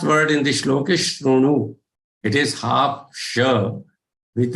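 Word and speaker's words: शृणु: But it is supposed to be Ro. Like you try to say Ru, but don't roll your lips as round. Okay, don't roll them. So keep them parallel and then try to say Ru. The pronunciation that comes out is generally correct. Shrunu. But then it is okay even if you say Shri and if you say Shru.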